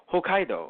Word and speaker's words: Hokkaido: But like at the same time, I fucking look at the Japanese dub and they're like Hokkaido, and I'm like, okay.